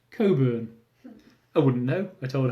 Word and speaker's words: Cockburn: ice rink amusingly named Cockburn probably because that's the most common injury men get when ice skating is your quipped no explained it's pronounced Coburn I wouldn't know I